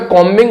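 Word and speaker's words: combing: थी उसको खोज में कमिंग ऑपरेशन चला रही थी इसमें बी साइलेंट रहता है कोमिंग ऑपरेशन चला रही थी क्या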